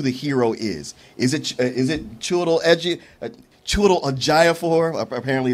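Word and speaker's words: Chiwetel Ejiofor: Is it Chiwetel Ejofor?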